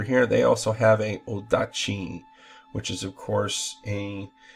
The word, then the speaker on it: odachi: they also have a odachi, which is, of course, a Japanese great sword. Often it's pronounced nodachi with an N in the front of it, but that's their interpretation.